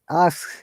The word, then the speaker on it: asks: Remember, both of you, if there is S after the verb or D sound, we must pronounce it clearly. Arrives, helps, Arrives. asks, Does.